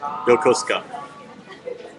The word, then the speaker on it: Yokosuka: funds EP Yokosuka Yokosuka it's always four syllables but like sometimes you know as they said some sounds can disappear like the U and s often disappears like I can't hear them say it like this but there is a you but sometimes they kind of disappear but no no I